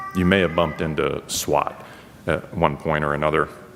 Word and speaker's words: SWOT: Um, and so while the main word sounds like SWAT, uh, it is pronounced like SWAT, uh, it's actually spelled